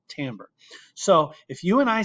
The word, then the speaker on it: timbre: It's pronounced timbre, not timbre.